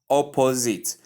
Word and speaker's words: opposite: Please, the right pronunciation is opposite, opposite, opposite, opposite, opposite. So you can take it individually so you'll be able to get the pronunciation correctly. We have the short O sound, ah, the P sound, the schwa sound, the Z sound, the short E sound, and the T sound.